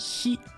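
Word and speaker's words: 日: This is the kanji hi, which means day or sun. And when it's on its own, it will be pronounced hi.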